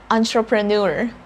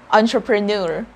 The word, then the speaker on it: entrepreneur: it is pronounced as entrepreneur again entrepreneur what makes this verb very confusing is you think the very first syllable we see there e n but we're saying on on untra pro and